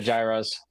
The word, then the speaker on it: gyros: foreign words foreign so yes what's the alterate pronunciation what do you like he said Gyros oh okay it looks like gyro but okay